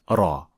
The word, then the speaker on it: ر: pronounced in the Quran to pronounce ra properly two organs will make contact with each other the tip of the tongue and the alveolar Ridge Raw Raw Raw will first focus on